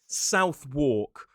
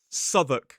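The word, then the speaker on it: Southwark: If you go to London, you might see a place that looks like Southwalk, but the pronunciation of this place is Suk.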